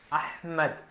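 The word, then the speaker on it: أحمد: ഇനി വളരെ ഇമ്പോർട്ടൻ്റ് ആയിട്ടുള്ള മറ്റൊരു നമ്പറാണ് 7, അഹ്മദ്. ഇപ്പോൾ ഹ എന്നുള്ള ഉച്ചാരണം അഹ്മദ്, അൽഹംദ്. അപ്പോൾ ഈ ഹാക്ക് പകരം 7 ആണ് ഉപയോഗിക്കുക.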